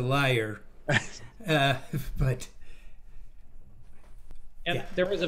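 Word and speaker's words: lyre: got an answer well we would call that a liar all right so now i know how to officially pronounce this then for yeah this is as as an instrument it's a liar but and there was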